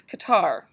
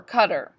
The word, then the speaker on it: Qatar: part sticking out here is Qatar or Qatar depending on who's talking it that is spelled Q a TA AR and then right right